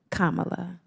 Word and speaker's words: Kamala: Kamala, like the pronunciation.